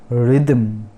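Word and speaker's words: rhythm: उसके बाद रिदम, रिदम तो देख सकते हैं एच साइलेंट है, रिदम, रिदम का मतलब है ताल, जो गानों में होते हैं रिदम वो है।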